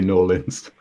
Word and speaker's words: New Orleans: that's right it's in New Orleans yeah I realize I'm mispronouncing but I can't quite bring myself to say Nolan's you don't have to